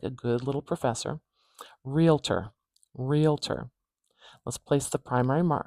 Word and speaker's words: realtor: primary uh stress marker realtor stress is at the beginning of this one so now this is how I would say realtor but you may have heard people say it another way realtor realtor we starting with